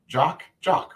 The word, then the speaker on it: Jacques: Jock, right? That's how you say his name in French.